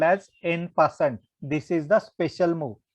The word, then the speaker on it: en passant: This is called as en passant. Okay, while pronouncing, you can pronounce like en passant.